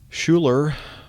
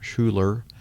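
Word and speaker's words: Schuyler: Nick for your question Schuler I think that's the way you pronounce your first name s c h u y l e r Schuler um that's the way I pronounce it writes my dad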